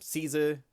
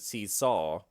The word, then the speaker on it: King Caesar: Um, Caesar is how we were pronouncing it in the West, but in all the Japanese movies, I've always heard seesaw.